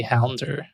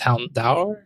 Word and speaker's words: Houndour: I usually say Hounder, but it's Houndour. I'll defer to Sean. Break the tie. Is it Greek? It says a combination of hound and I think this word is dour. D-O-U-R. Door. But I would pronounce it door.